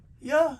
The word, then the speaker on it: Yah: Before they changed his name had the name Yah in it, spelled I-A-H, which would be J-A-H, pronounced Yah.